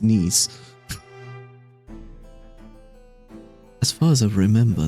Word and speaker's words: Nice: Yes, I know it looks like nice, but Nice is actually a place in France. And yes, it is pronounced knees.